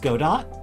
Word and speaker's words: Godot: it's a programming language no I haven't had the experience of it being pronounced like godo in fact I haven't seen that experience with it being pronounced whatsoever so just kind of make it without having that like you know silent T pronunciation I just think Godot that's valid yeah but I'm sure